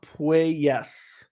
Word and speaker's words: Puelles: It's pronounced Puelles.